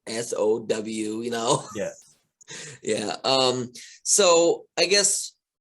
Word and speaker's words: Samhain: going to search it, you say Samhain, people are going to like SOW.